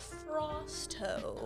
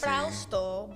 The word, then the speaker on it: Frausto: grade school, they would always mispronounce it like Frosto. Oh, And it's like, it's Frausto, but Frosty is easier, then go ahead.